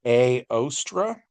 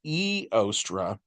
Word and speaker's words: Ēostre: And so the English pronunciation would be aostra. The old English version I guess is eostra and then the Germanic version which I as I understand it should be the most accurate version is yostra right and so this